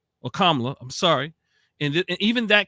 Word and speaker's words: Kamala: fact that they did not want to choose Kamala or KLA I'm sorry and even that came up right like people are mispronouncing her name and I don't think that